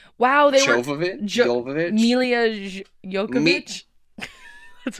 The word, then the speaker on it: Jovovich: Okay, and then Mila Djokovic. Wow, they Jovovich?